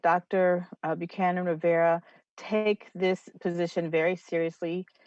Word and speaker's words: Rivera: Buchanan Rivera. Did I pronounce it right? Rivera.